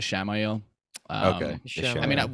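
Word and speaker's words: Ishamael: Yeah, Ishmael's like a Bible name, so that's probably why I'm pronouncing it like that. I think they've been using the pronunciation as Shamael.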